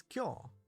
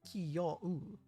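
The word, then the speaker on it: きょう: For example, the above is kyo. Based on our lesson so far, you would look at this and read it as ki-yo-u.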